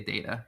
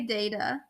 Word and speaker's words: data: not I say data I say data it's not data actually I definitely said that I definitely changed it up I think I'm more on the either either data data I prefer data I think how we say Ben